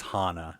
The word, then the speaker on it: Hannah: You're the one saying it wrong. It is Hana. Everybody knows this. Just read it the way it's spelled.